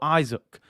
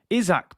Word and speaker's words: Isak: Is it Isak or Isaac? Isak, people told me. That's how you pronounce it.